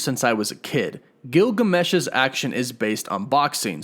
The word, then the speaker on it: Gilgamesh: Next up is Don Lee's Gilgamesh, not to be confused with Gilgamesh, it's Gilgamesh. Some people have been saying that I pronounced that wrong, but nope, it is Gilgamesh, Gilgamesh.